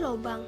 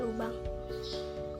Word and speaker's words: lubang: seharusnya dilafalkan hubbuka no contoh Lubang dilafalkan menjadi lobang yang semester semestinya dikatakan lubang lalu pelafalan fonem yg